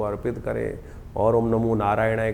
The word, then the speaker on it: नारायणाय: कई बार लोग मंत्र का जप करते करते थोड़ी सी गलती कर देते हैं। नारय नारायणा नारायण नारायणाय नारायण नय नहीं है। नारायणाय ओम नमो नारायणाय इस मंत्र का इसका स्तवन करें।